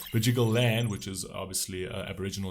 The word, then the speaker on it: Bidjigal: This video clip was filmed on unceded Bidjigal, I actually know what that is, but I always pronounce it wrong. Bidjigal land, which is obviously Aboriginal land in Australia, where I was born and raised.